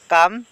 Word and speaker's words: কাম: ইয়াতে এল সাইলেন্ট বর্ণ কাম কাম মানে হান্ত ইয়াতে এল সাইলেন্ট বর্ণ তারপরে লিসেন লিসেন মানে